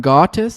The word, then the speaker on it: Gautis: Good morning, Gautis. He says pronounced like autis with a G.